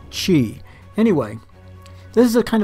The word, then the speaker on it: Qi: ever got curious about how you pronounce that Qi word it's Qi anyway this is a